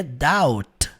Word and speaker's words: doubt: Mas você vai ignorar essa letra B. A letra B não é pronunciada. A pronúncia disso aqui é doubt.